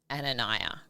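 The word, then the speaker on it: Ananyah: I Her name is And I hope I say it right. Ananiah? Ananiah, correct. A N A N Y A H.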